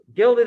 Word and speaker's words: gilded: it's the something age it rhymes with filled it age gilded age yes nicely done um